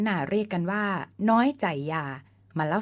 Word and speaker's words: ไชยา: เรื่อง คำ นี้ แม้ จะ ออก เสียง ว่า ใจ อย่า แต่ เวลา เขียน ต้อง สะกด เป็น ไชยา ซึ่ง มี ความ หมาย ว่า